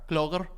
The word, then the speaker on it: Clogher: It's a Clogher.